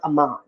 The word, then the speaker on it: Aamon: spell it differently so well interestingly enough phonetically it is aan okay um but it's pronounced Aman so yeah so phonetically